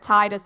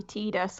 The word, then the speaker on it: Tidus: And also discovering that Tidus is actually Tidus. Oh my god, Tidus. Tidus. Ugh, that Yeah. makes him so much worse than he already was. Tidus.